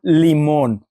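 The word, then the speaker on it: limón: here in in Mexico is called lemon l i m o Accent on the o n lemon there's the accent if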